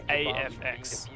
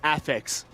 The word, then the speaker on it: AX: LFO and I said is it AFX or is it ax and Enigma responded ax please bro I just wanted